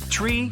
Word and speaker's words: tree: It's the way pilots pronounce certain numbers in their pilot English. Tree stands for three. Five for five and niner is used instead of nine. Such pronunciation helps to avoid radio miscommunications and the confusion caused by similar sounding numbers.